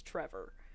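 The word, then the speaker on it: Trefor: that the Welsh uh f is sometimes pronounced as a V and therefore the dog's name was Trevor um but yeah like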